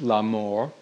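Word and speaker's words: la mort: so enter death or in french la mor which rhymes with la moor love and death so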